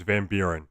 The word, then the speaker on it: Van Buren: Yeah, it was Van Buren.